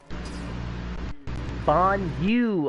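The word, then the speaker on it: Bonyu: It's pronounced as Booyah. Bon Yu. Okay, Bon Yu.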